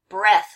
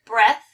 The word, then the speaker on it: breath: Breath. So here's breath, and here's breathe. With the E makes it the long E sound.